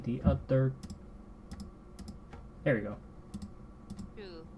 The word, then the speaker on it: tú: It's actually the same pronunciation. This is a more written thing than it is a pronunciation thing.